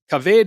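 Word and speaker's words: כָּבֵד: Kaved, however, has the kamatz in the first syllable, but a tzere in the second syllable, in the theme position.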